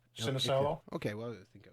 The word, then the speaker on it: Sinisalo: How do you say that name? Ilka Ilka. Sinisalo.